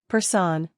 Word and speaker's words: personne: Personne, pronounced personne, means person.